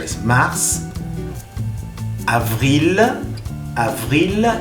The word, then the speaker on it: avril: Avril, avril. Y atención, recuerden que la V no es lo mismo que la B. Es avril, porque en español decimos abril con la B grande, la B larga.